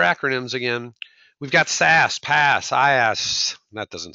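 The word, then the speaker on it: PaaS: ready for your acronyms again we've got SAS pass SAS that doesn't sound so good but that's how you pronounce it stas are we confused yet software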